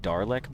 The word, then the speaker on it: Dlech: Dlech is pronounced more like Darlech, by the way.